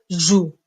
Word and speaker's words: joue: je on dit je joue je joue avec la terminaison e e je joue e mais attention on écrit e sans la prononcer on dit que c'est une lettre muette E est une lettre